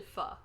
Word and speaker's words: pho: Because it's actually pho, but people pronounce it faux.